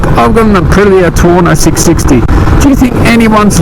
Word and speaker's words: Tuono: They'll come up to you and say, oh, how gross is that Tuono? It rhymes with porno.